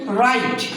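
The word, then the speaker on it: write: পরে এই অথবা আর থাকবে সে কষেত্রে ডব উচ্চারণ হয় না যেমন রাইট ডব আর আইটি এক্ষেত্রে ডব উচ্চারণ হয় নাই এরপরে রং ড আর ও এনজি রং এরকম আরো অনেক শব্দ রয়েছে।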